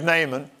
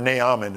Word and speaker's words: Naaman: in the whole land here's Naaman or nyamin as it really is where he pronounced his name Assyrian leper they got